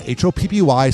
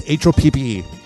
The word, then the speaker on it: Hoppe: No, it's not Hoppy. Some people spell it that way. No, it's Hoppe to save 20%.